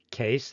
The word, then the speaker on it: Case: So let me turn now to Dave, David R. Case, that's how you pronounce the last name.